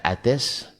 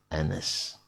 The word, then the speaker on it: Anas: Tapi ketika sudah mulai pengetahuan orang semakin rendah, akhirnya ada yang baca ates. Karena ada orang Indonesia di situ yang baca, akhirnya dibacanya ates. Ada pula yang baca karena orang Turki misalnya. Akhirnya untuk menghindari itu maka dikasih titik bahwa ini bacanya Anas.